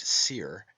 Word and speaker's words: soir: Therefore we have the heavenly wolf, Osiris, meaning the high eastern sun, from os, high, and soir, pronounced seer, and meaning east, hence the morning sun.